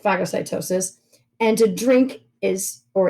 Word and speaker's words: phagocytosis: and phagocytosis yeah so to eat is tafage or we would pronounce it phagocytosis and to drink is